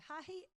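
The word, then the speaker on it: hāhi: So hahi is church. So hahi, hahi. And so because there's a macron over the A, it's a longer sound.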